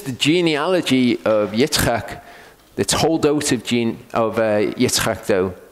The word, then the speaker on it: Toldot: Okay, whenever you've got an O in Hebrew, it's a long O sound, so it's Toldot.